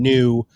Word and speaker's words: Nyoo: deep philosophical understanding of how you have taken new which by the way is spelled n-y-o-o which i think is freaking awesome